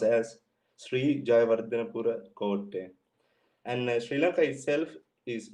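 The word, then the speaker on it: Sri Jayawardenepura Kotte: And it is pronounced as Sri Jayawardhanapura Kotte.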